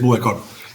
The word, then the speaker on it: Buëcor: No sé si lo pronuncio bien. Perfecto. Sí, es Buecor. Y realmente el nombre de Buecor nace de un juego de palabras, ¿no?